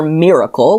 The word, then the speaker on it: Myrracle: Okay, so we're getting introduced to Tukey's sister Miracle, which is spelled Myrracle, and her best friend Brian.